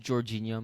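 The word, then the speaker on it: Georginio: Freaking Giorgino or whatever. Yeah, he got up for it's that header. pronounced Jorginho, Mason, just like the Arsenal player.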